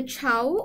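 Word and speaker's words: Chhau: exam point of view that we have the chow which is actually written as child but pronounced as Chow right which is a popular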